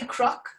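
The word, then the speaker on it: cnoc: on that one so when you see anywhere that's knock it's actually crook which means mountain or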